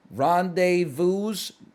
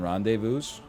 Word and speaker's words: rendezvous: I don't think you pronounce the S in rendezvous.